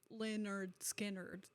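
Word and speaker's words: Lynyrd Skynyrd: It's all wise, because one of their albums it's pronounced like it's phonetically, they give you a phonetic pronunciation, spelling. And it's Leonard Skinnard, like how it's You said, have officially impressed me.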